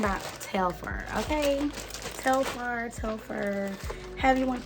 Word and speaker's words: Telfar: baby we're talking about telfer okay so far tell fur have you want to pronounce it is her love her so this